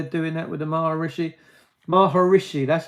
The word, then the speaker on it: Maharishi: Maharishi, that's how you say it.